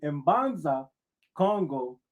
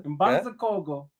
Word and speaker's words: Mbanza Congo: The Ishikongo of Central Africa who settled in Mbanza Congo, the capital How you knew How you knew to pronounce the M like that? Go ahead, brother. I I see I see you, brother. Mbanza Congo the capital of Kingdom